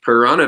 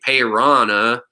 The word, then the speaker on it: piranha: The beautiful accent and the proper way to say red belly piranha. All right. It's watch this carefully now. Okay. Piranha. Okay. Roll an R. Piranha. Piranha. There you go.